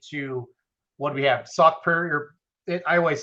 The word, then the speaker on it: Sauk Prairie: Sauk Prairie? I always say it wrong. Greg always yells at me. Sauk Prairie.